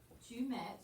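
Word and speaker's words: tu mets: Tu met. You don't say the S, but the S is there.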